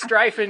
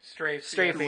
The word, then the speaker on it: strafing: It was like, I'm just strifing you guys. I'm just strifing. You're saying it wrong again. Oh, is that wrong? Shuriken? Great. Strafing? Strafing. Great.